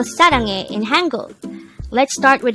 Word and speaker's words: 사랑해: Saranghae. Saranghae. This is pronounced as a 3-syllable word. The first syllable is sa, second syllable is rang, third syllable is he.